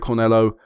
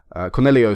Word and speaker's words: Cornelio: I don't really rate cornello Cornelio sorry it's an iio had the end sorry I butchered that